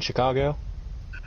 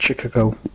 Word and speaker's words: Chicago: Because they wanted to meet you in Chicago? No, they pronounced it Chic-ah-go.